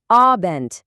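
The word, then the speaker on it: Abend: Kelimenin sonundaki D harfini sanki T'ymiş gibi okumaya çalışın. Yani abent gibi.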